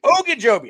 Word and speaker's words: Ogunjobi: Ogunjobi.